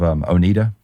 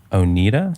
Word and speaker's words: Oneida: Have you ever heard of Oneida? Oneida? It's a silverware manufacturer. Or I've always heard it pronounced Oneida.